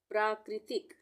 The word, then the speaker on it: प्राकृतिक: प्राकृतिक, प्राकृतिक, अब यहाँ पे भी प्रा ये हो गया, पदेन की मात्रा र के लिए, आधे र के लिए प्रा हो गया, और क में री की मात्रा, वो जो मैंने ऊपर